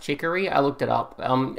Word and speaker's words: Chicory: passed down through the ages but current wielder hickory oh by the way it is pronounced chicory i looked it up um it's a real